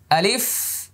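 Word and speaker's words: ألف: এবার আমি আবার বলছি আলিফ আলিফ আলিফ আলিফ এভাবে বাতাস বের হবে দাঁতগুলো এখানে লেগে যাবে আলিফ লিফ আলিফ আলিফ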